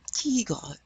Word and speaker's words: tigre: Now we know the E is called an E, so you're going to hear the E. Tigre.